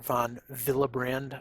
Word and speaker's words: von Willebrand: And so down here, we'll talk about another one of the biomarkers, which is called the von Willebrand, or von Willebrand, I guess, would probably be the German way of pronouncing it.